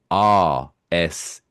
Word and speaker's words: arse: I still have to pronounce it the way we pronounce it in England, Which is ARSE.